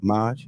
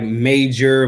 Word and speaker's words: Maj: It's Maj, right? I'm saying it right? Maj? Yeah, yep. If some people be fucking it up, they be like Major, Maggie, some all type of Magi.